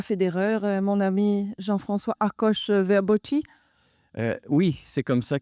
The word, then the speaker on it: Akos Verboczy: C'est pas la vraie prononciationuse de mon nom, mais c'est parce que c'est moi qui l'a déformé avec les années. Fait que aucun aucun souci. C'est alors c'est ça, je m'appelle Akoche Verboi.